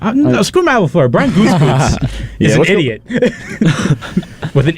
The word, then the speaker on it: Gutekunst: Brian Gutekunst is an idiot with an idiot last name. Doesn't make sense. It's spelled.